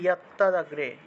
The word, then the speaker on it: যত্তদগ্রে: তারপর যত্ত দগ্রে লেখা, উচ্চারণ হবে ইয়াত্তা দগ্রে, ইয়াত্তা, ইয়াত্তা দগ্রে বিষমিব, বিষম ইব, রস্বইকারটা রস্বই হিসাবে উচ্চারণ করলাম।